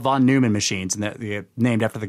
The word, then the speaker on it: Neumann: You know, von Neumann self-replicating von machines. Neumann. Yes, Neumann. Neu. Von Neumann. I mean, N-E-U is actually pronounced Neu if it's German.